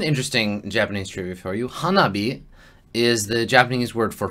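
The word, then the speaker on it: 花火: And it combines the characters for hana, which is flower, and hi, the kanji for hi, pronounced bi in the word, bi.Is fire. So hanabi is fire flower.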